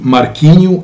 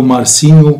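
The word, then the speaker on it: Marcinho: ده بالنسبة لي ماركينيو أو مارسينيو بقى زي ما تنطقها في اللغة البرتغالية.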